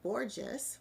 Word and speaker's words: Borges: award-winning vocal artist, and Borges, which rhymes with gorgeous, I love it, who's a veteran of gospel music as well, and a relative of Marlene.